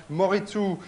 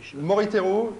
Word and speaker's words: Moriteru: Il y a Moritu. Alors Moriteru, prononcez bien.